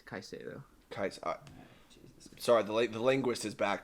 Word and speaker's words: Caicedo: Sorry, it's not Concedo. It's Caicedo.